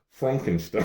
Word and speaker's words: Frankenstein: Young Frankenstein? Okay, so what's the name of the doctor? Well, Frankenstein. Frankenstein? It's pronounced Frankenstein.